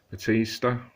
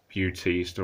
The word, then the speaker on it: Bautista: again is Stallone and Batista. Or well, I mean, I'll call him Batista because that's what he was called when he was a wrestler. But I think it's pronounced Bautista or Bautista.